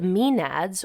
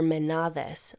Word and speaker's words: Maenads: The Maenads, or Maenads, are the human female followers of the god Dionysus.